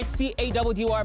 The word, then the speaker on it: Caddy: It's mission time with your boy C-A-D-D-Y, pronounced Caddy.